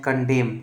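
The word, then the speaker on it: condemn: बाद किसी वर्ड में अगर एन आए तो क्या होगा हमेशा साइलेंट होगा जैसे आप देख सकते हैं कंडेम कंडेम में एम के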